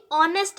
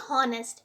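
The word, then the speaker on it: honest: अब यहाँ पर देखिए, यहाँ पर भी देखिए ऑनेस्ट आप इसको पढ़ेंगे ना कि हॉनेस्ट, क्योंकि एच क्या है यहाँ पर साइलेंट है, तो ऑनेस्ट है,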